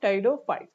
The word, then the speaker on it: Pteridophytes: गया इसका Tide फाइट्स इसमें पी साइलेंट रहता है ओके पी क्या रहेगा इसमें साइलेंट गा यानी कि टेरन यानी कि पूरा नाम क्या बोलेंगे इसको हम टेडो फाइट्स अब टेडो फाइट्स का